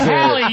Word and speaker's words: Halle: Haley it's Halle, you motherfucker.